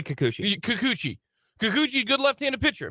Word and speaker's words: Kikuchi: And, how do you pronounce his name? You say Kikuchi.